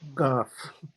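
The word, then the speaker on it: ق: And the key thing is whether there's a letter which teachers of literary Arabic call Qaf, and the Bedouin pronounce it Gaf with a voiced G.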